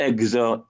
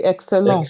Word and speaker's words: excellent: Excellent. Can you repeat that? Excellent. Excellent. Not excel. Excellent. Okay, excellent.